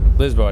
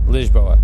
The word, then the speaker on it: Lisboa: power right beach boy lisboa not Lisbon okay no no no because at least was so its allies is hola it opens up the the a is openly pronounced and the college boy lisboa like imagine a J like leash lisboa his RSS when they're usually closed it's really leash I gotta know the